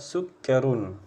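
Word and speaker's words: سُكَّرٌ: Dan itu adalah susu nah perhatikan abang-abang Panjang pendeknya ya bacanya harus jelas hadza sukkarun ya hadza sukkarun walika labanun Nah beberapa ada teman kami ya jadi dia bacanya ikut terikut Irama itu karena H ya dalika panjang-panjang ya jadinya dia baca H sukkarun Wika labanun salah ya jangan seperti itu jangan ngikutin nada tapi ikutin Panjang pendeknya Nah jadi ini betapa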